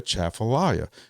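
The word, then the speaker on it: Atchafalaya: But there's also a national wildlife refuge, the Chaffallayia. And that's how you pronounce that, boys and girls. The Aafallayia National Wildlife Refuge.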